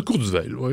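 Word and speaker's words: Kurzweil: de cours veil pour être tout précis ou enfin bon après vous emmerdez pas maintenant il est américain donc tu fais gentil avec le nom allemand c'est ses origines hein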